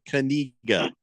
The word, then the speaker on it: Kaniga: We're not going to talk about Mr. Kaniga. That's how you pronounce it.